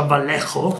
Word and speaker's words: Vallejo: Per i colori io personalmente uso il Vallejo, che si pronuncia Vallejo.